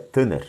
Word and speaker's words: Tanakh: Mas a pronúncia é Tanakh, né? Essa última é um ret, ele é falado como meio gutural, é um R, como se fosse 3 R's, né, na pronúncia.